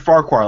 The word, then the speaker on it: Farquhar: key on that one more far forward Farquhar like from Shrek ah farquhar two and